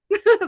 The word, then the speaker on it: Tasia: I may pronounce her name a little funky just because I pronounce words a little funny and she's aware of that. But oh my gosh, I'm already doing it. Tasia. Tasia. There we go.